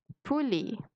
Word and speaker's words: poulet: الاو تي بتتنطق ايه poulet.